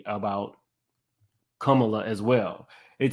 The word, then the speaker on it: Kamala: And I know I pronounced it wrong. I'm trying. It's Kamala.